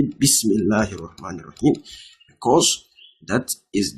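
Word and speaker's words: بسم الله: For example, you don't see bis Bi-ismillah. You don't say bi-ismillah. You say what? Bismillah.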